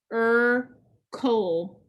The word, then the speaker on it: circle: Circle.